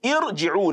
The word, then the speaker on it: ارْجِعُونَ: Now, the word irji'un, that alif there is given an imaginary, or let me say a temporary kasra, then followed by ra sukun. That kasra is not fundamental in that letter.